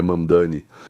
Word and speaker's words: Mamdani: Bem, tipo, Mamdani, mesmo tendo pronunciado várias vezes, sempre dá vontade de falar errado por algum motivo, mas tudo bem, é Mandani, ele é uma pessoa